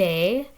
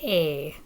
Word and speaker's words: est: Okay, il est Elle est. The pronunciation is exactly the same. The T is silent, but you do have to spell it differently.